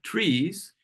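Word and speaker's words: TRIZ: research Innovation technique called trees that's a Russian acronym for the theory of systematic problem solving I know it looks like Tris but it's pronounced trees and it's a technique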